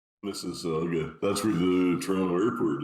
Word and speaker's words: Mississauga: I remember that hash, Jamaican oil in abundance in I'm gonna pronounce this wrong, Mississauga. Mississauga.